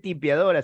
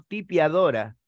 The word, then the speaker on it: tipiadora: pedrete sino es pedestre no se dice limpiadora sino tipiadora por qué Porque lo